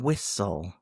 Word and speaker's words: whistle: There's a T in whistle between the S and the L. But we do not pronounce it. It's silent. And finally, we have a silent H.